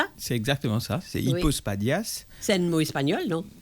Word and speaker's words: hypospadias: il sujet alors son gué ça s'appelle me prononcer Bien hypospadas, c'est ça ? C'est exactement ça. C'est hypospadias.